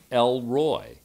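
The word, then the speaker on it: El Roi: the names of god it is elroy now elroy is not the name of the son of george and judy jetsons from the cartoons the jetsons this is god's name l roy l that is spelled e-l is the generic name for god and roy spelled r-o-i means the one who sees christian contemporary artist michael carr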